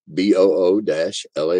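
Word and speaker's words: bulette: creature feature that states de boules pronounced be oo - la Y has only two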